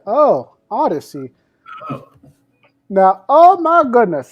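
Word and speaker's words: Audeze: Oh, it's pronounced Odyssey. Oh, Odyssey.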